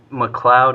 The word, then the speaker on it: Macleod: Is that how you say it? McLeod is correct, yes.